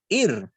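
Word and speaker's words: עיר: Debajo de Y la Ain hay una Hirit Yud, sonido de I. Después una Resh. ahí, Ir, IJ, ir, Ir, ir, ir, ir.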